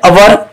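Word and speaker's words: hour: धारो के एन अवर एमां H silent एने हवर न बोलाय, एन ऑनेस्ट मैन एमां एच साइलेंट फरीथी एने होनेस्ट ना बोलाय ऑनेस्ट बोलाय।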